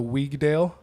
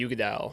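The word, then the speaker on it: Uigeadail: It's pronounced the Weigdale. Oh, the Ugadal. Yeah, or the Ugadal.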